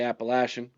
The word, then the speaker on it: Appalachian: At Appalachian State, however you want to pronounce it. I say Appalachian. You said it right. I know, but most people don't.